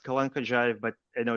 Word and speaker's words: Kalankhodzhaev: His name is Alexander Kalihads. He'll let me know if I pronounced that correctly.